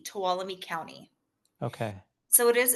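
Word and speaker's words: Tuolumne: How do you spell that county name? T U O L U M E. Towalami County.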